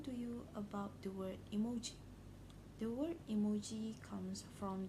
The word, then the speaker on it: emoji: Today I'll be explaining to you about the word emoji. The word emoji comes from the Japanese word, which is the first symbol pronounced as E, means picture, and second and third symbol pronounced as moji, means character.